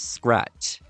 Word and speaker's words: Scratte: Her name is Scrat. Yeah, Scrat's love interest has the same name as him, except it's spelled fancy.